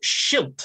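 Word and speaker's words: schild: say to them say and it's shilt the flemish word for shield and the french can't pronounce it properly they can't say it with the flemish accent if someone can't say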